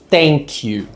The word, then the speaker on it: thank: A ponta da sua língua, ela vai passar entre os seus dentes, os dentes de cima e os de baixo, ó.